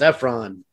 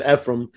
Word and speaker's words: Ephron: his last name miles it's ephron oh i'm sorry did i say it wrong i think you said ephraim uh you're going to